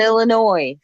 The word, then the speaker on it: Illinois: Well, There's no noise in Illinois.